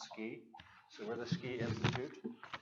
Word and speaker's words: SCI: who don't know us our acronym is sci which we pronounce ski so we're the ski